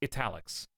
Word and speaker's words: Etalyx: I pronounce it like Etalyx.